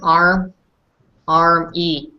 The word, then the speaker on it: army: But like usually, you would think it's like arm, and then like arm Y, but it's not. In this case, it's we pronounce it arm E, like with an E at the end, arm E. So just take that a little bit into consideration, with arm E, with the E at the end.